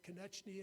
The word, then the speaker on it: Konechny: That's why she's at the table with our newest employee, Katrina Konechny, and yes, I pronounced that correctly.